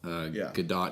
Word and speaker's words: Gadot: All right, let me go back to Gal Gadot because I looked it up, and yes, it looks like there is a T in the pronunciation.